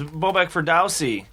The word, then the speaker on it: Bobak Ferdowsi: That voice you're hearing, if you're tuning in, is a gentleman known as Bobak Ferdowsi.